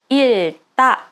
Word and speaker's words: 읽다: But as you have noticed, I am pronouncing almost like 읽다, 읽다.